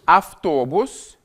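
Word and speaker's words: автобус: Alors euh donc le euh auto en russe va se transformer en avo. On va avoir euh on va avoir un phénomène euh phonétique d'assourdissement de la consonne V.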